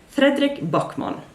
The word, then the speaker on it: Fredrik Backman: I went to is, I tried to say his name how I would pronounce it in Norwegian, Fredrik Backman. I think you probably say it a little bit different in Swedish, but it's pretty close, I think.